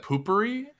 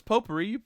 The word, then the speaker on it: potpourri: Wait, isn't it poopery? No, it's potpourri. I think it's pronounced potpourri.